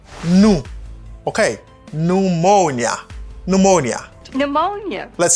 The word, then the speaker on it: pneumonia: Pneumonia. Okay, on dit pneumonia. Pneumonia. That's great. Pneumonia. You can try it. Ou capable essayer. On nous fait en même temps. Pneumonia. Pneumonia. Accent sous deuxième syllabe là.